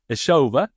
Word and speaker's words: Ezhova: and I'm going to try and get the pronunciation exactly right isova is this correct perfect perfect so would